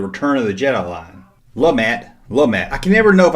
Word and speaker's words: Lumat: Lumat. I can never know if I pronounce these Ewoks names right.